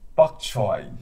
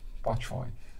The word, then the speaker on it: bok choy: using the this vegetable, bok choy, bok choy, right? It's Cantonese pronunciation of bai chai, bai chai.